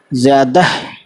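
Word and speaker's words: زیادہ: और छोटी है ज़्यादा, ज़्यादा, है ना, लेकिन ज़्यादा पढ़ते हैं, ज़्यादा है की आवाज़ बहुत हल्की निकालते हैं या नहीं निकालते हैं, ठीक है।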